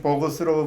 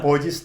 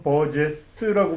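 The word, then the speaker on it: Burgess: 그거하고 관계가 저녁 연대는 시간에 어떻게 대해서 지금 버거스라고 발음하시는지 모르겠는데 사실 햄버거 좋아하다 보니까. 버지스 또는 버제스라고 발음하죠.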